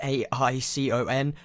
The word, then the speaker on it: Aicon: And that is spelled A-I-C-O-N, not like icon.